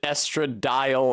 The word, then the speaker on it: estradiol: Uh people seem to pronounce it estradile over there. I think that is what it is. Uh I think it is Estradile, but from the very first time I heard that pronunciation, I thought of Toadile, the Pokemon, and I thought that sounds really stupid. I'm going to say Estradiol because it sounds like an actual pharmaceutical, but people do say Estradile.